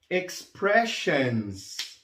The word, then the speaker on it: expressions: Expressions. Expressions. Esse sonzinho de sions aqui, em inglês nós pronunciamos assim, ó, shans. Shans. Certo? Então fica expressions.